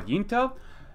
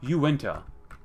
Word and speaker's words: Uinta: Discussing about the pronunciation of what I normally would call Yinta. Apparently, it should be Uinta.